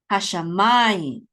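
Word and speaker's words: השמים: So this is hashamayim, okay, because the accent is on ma.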